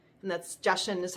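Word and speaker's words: Jachin: uh the two pillars the boaz and the joshim and that's justin is how you um pronounce it because i actually had to look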